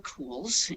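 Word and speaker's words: Kuhls: the privilege of testifying my name is cools and my last name is spelled k-u-h-l-s um I'm a trauma surgeon I've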